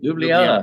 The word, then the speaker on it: Ljubljana: Ljubljana. Yeah. That's it. Ljubljana, Ljubljana. Slovenia. So capital. you can fly into Ljubljana.